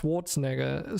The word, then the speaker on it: Schwarzenegger: Because that's why it's so hard to spell, because it's pronounced Schwarzenegger. So basically you cut away the E, but in the pronunciation, but there's like an E in there that just gets left out for some reason.